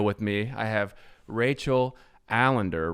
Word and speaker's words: Allinder: me i have rachel allender rhymes with calendar founder and ceo of